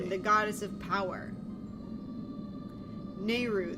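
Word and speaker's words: Nayru: Nehru, the goddess of wisdom. I've always pronounced it Naira.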